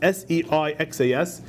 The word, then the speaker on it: Seixas: Tomorrow will be published and sold at the printing house a discourse delivered by the Reverend Gershom Seixas, S-E-I-X-A-S, is pronounced Seixas, of the Jewish synagogue.